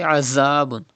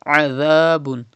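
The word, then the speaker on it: عذاب: Pronounce dhal without whistle. Adhabun. Do not say azabun. Read adhabun.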